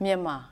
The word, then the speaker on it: Myanmar: Which means itís far past time for us to know how to pronounce the new name of Burma, which is Ö Myanmar.